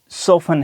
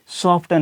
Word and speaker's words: soften: अब देखें कि यहाँ बड़ी वर्ड सोफन है, सॉफ्टन नहीं पढ़ा जाएगा।